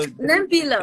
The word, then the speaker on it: Celimpilo: No, it's not a C. Oh, what is Yeah, it? it's a. So Celimpilo. tip Celimpilo? behind your teeth, upper teeth.